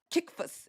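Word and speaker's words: Cephas: Uh then he goes, "Then after three years, I did go to Jerusalem to visit uh Kay uh uh uh Kikas Kikas is how you say it.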